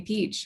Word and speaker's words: Petro: you pro um some people call me peach why because that's how you pronounce my last name petro um that's where it